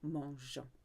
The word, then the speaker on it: mangeons: use the nous conjugation, it needs to keep the E in there to keep the soft G sound. Because if you didn't have the E there, it would say nous mangeons. We want it to stay soft.